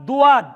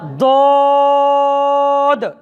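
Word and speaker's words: ض: তাহলে আজ থেকে সুয়াদ দুয়াদ, সুয়াইদ দুয়াইদ বাদ, সদ দদ। এই অক্ষরটি সবাই বলেন, আরো সুন্দর উচ্চারণ, সদ দদ।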